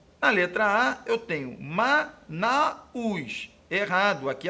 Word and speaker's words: Manaus: letra A eu tenho MA Naus errado aqui a pronúncia é Manaus com um DIT tongo então Manaus está erradamente